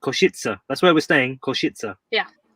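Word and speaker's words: Košice: it because it's pronounced kushitsa koshitsa koshitsa that's where we're staying koshitsa yeah say again okay it's not difficult shake is it kishitsa yeah exactly but it's not it's not said how it's spelt if that makes any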